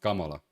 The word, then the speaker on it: Kamala: They can't No, because Kamala Kamala is Isn't it Isn't it a Indian name? So, it's actually pronounced Kamala.